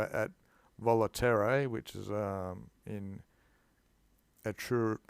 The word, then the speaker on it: Etruria: So at Volaterrae, which is in Etruria. How do you pronounce that place? Etruria.